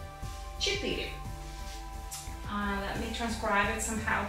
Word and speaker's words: четыре: Четыре. Let me transcribe it somehow for you. Четыре.